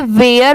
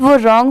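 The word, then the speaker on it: were: बहुत सारे लोग इसे वेयर पढ़ते हैं बट वो रॉन्ग होता है। इसकी प्रोनाउंसिएशन है वर।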